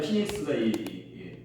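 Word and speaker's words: Phoenix: 피닉스, 애리조나의 피닉스가 PH 발음이 F 발음이 나요.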